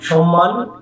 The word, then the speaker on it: সম্মান: এটির শুদ্ধ উচ্চারণ সম্মান, সম্মান। সম্মানিত ব্যক্তিবর্গ, তোমরা তাদেরকে সম্মান জানাবে, তাদের কি শুদ্ধ উচ্চারণে সম্মানটা জানাবে। শয় ম ফলা আকার দন্ত ন, সম্মান, এটি শুদ্ধ উচ্চারণ করবে।